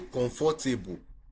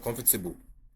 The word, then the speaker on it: comfortable: That's not the way you pronounce it. It is Wednesday. We will say comfortable instead of comfortable.